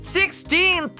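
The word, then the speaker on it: sixteenth: Vamos aprender a pronúncia de 16th! Dividir essa palavra em 3 partes para ficar fácil de estudar os sons dela. O primeiro som é 6. Repitam comigo. 6. Depois a gente diz teen, como na palavra tinta.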